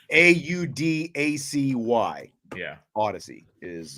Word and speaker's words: Audacy: Odyssey is how it's pronounced. It looks like when you first see it, it looks like you should be saying Audacity, but then you look at it and it's right.